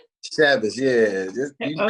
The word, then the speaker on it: Chavis: Chavis, yeah.